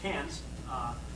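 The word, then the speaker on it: Cairns: about northern Australia so we flew up to Cannes which is how they pronounce appearance it's not we would call but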